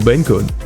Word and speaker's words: Bencode: oops sorry about that so Ben code pronounced like B encode okay that's the okay